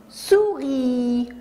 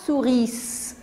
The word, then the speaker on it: souris: syllabes regarder avec moi regardez le s qui est en gris on dit sourit on ne dit pas souri ce le s est mué en l'écrit en orthographe